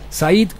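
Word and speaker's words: Saïd: agresores nacieron en París sus nombres said así se pronuncia es el mayor de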